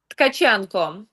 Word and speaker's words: Tkachenko: And pronounce, your last yes. name for me. Tkachenko.